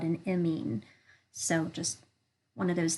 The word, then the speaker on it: amine: asset Alcatel chemistry is amine chemistry I'm not great at kind of spelling things phonetically but if you could think of it like ya mean that's kind of how it's pronounced um I have seen